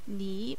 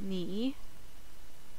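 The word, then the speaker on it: 你: Now there's a new word, nǐ, meaning you. Don't worry about the character right now, just remember the pronunciation, nǐ and you.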